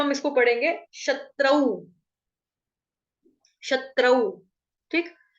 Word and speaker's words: शत्रु: क्योंकि आगे जो शब्द हो रहा है वो शत्रु मतलब कि श से स्टार्ट हो रहा है, इसलिए शत्रु।